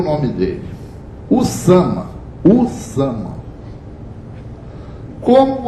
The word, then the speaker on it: Usama: Então nós vamos pegar aquele nome que se pronuncia Usama, vem para o português via o inglês. Então o nosso Usama, como a gente é macaco de imitação da grafia norte-americana, vira Osama. Osama, né, que se escreve. O nome do cara é Usama.